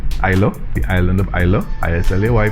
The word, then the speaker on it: Islay: Patrick himself brought distillation to Ireland, and then sometime after that there was a wedding on Islay, the island of Islay, I-S-L-A-Y, pronounced Islay.